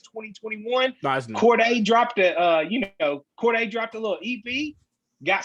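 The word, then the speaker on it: Cordae: Yeah, Corday. I just recently discovered he put out an EP. I might be behind the times. It says 2021. Nice. Corday dropped a little EP.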